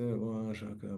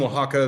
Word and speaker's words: Oaxaca: And it's in Oaxaca, the Z's, or a lot of the X's, sorry, have an H sound, and so you get the Owa.